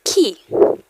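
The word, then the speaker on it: qui: the next one is key key remember Q sounds like a k not don't let the English um sound enter your mouth okay key like a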